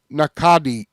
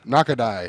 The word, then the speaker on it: Nakadai: Um, Tatsuya Nakadi, Nakado, Nakadai, Nakada, Nakadai, Nakadai, I think is how you say it.